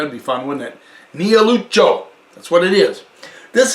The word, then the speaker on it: Niellucciu: Niellucciu.